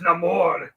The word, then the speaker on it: Namor: no remember it's it's Namor is that name or anymore it's no more they butchered his origin